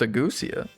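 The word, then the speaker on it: ageusia: He developed agusia. Agusia? Agusia? Agusia. Where's the pronunciation? Pronunciation. Agusia. Agusia. It's literally agusia. It's just like goose.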